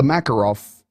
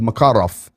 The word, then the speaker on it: Makarov: ukrainian slavic type languages the accent goes on the second syllable most of the time so this is not the makarov not the macarena this is the makarov this is a substantial